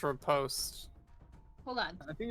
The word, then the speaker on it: riposte: the second syllable is post. Lee post. I think it's. Riposte?